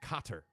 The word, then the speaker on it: Qatar: they were epic fun cotter is pronounced cotter qatar okay you got it uh karen is